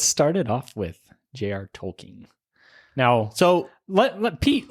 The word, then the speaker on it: Tolkien: so that is so on the tolken society they have it pronunciated as tolken um however I have grown up saying it tolken and I know many